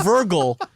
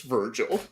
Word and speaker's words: Virgil: oh by the way it's only a quote from Vergo in that is not not how you pronounce Virgil okay unless Virgil is